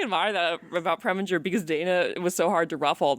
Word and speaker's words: Dana: He never learned how to say Dana. He would call him Donna.